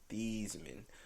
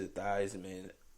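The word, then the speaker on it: Theismann: is actually pronounced as thiesman uh but changed it to theisman before his senior year at notre dame because it rhymes with heisman i don't know guys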